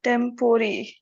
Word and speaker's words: temporary: A recent example is temporary, which in Britain is often pronounced as if it were tempori.